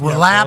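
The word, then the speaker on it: Rolapp: Yeah, Roll-up. not how it's spelled, but Roll-up, who's the right-hand man for Roger Goodell in the NFL, runs the business side of this entire thing.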